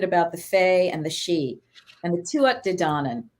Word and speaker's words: Sidhe: But so what we're learning is that the Xi are known as the Shining Ones. And that word is spelled Sidhe.